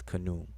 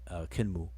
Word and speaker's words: Khnum: The way we say his name is Khnum, but if you look in the glyphs, it's more like Khenmu.